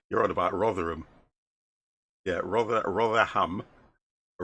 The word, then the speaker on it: Rotherham: rotterham he's in you're on about rotherham yeah rather ham a rotherham we pronounce it yeah rotherham is in england rotterdam